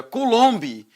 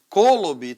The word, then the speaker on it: coulomb: Tem gente que pronuncia coulomb, coulomb, tanto faz, tá?